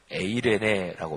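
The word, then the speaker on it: εἰρήνη: 부활하신 주님께서 가장 먼저 전하신 소식은 평화, 히브리어로 샬롬, 신약성경 헬라어로는 에이레네라고 발음하는데 평화, 평안, 평강이었습니다.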